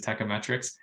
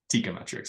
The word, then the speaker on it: Teikametrics: is a proper pronunciation I think it is techometrics however I would say having gone to several industry conferences and shows and things like that at least a third if not 40 of the people still call it tikometrics which is you know we don't we don't shun that pronunciation okay I will try